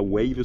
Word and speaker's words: Wave: niveau de wave alors wave ici se prononce soit wave soit wave soit WAF ça dépend un petit peu des des endroits où tu es mais on a eu